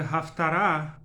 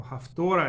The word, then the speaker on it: Haftara: On this short video, I want to discuss the Haftara, or Haftora as Ashkenazim pronounce it, of our weekly reading, Vayechi, and a few words about Haftara in general.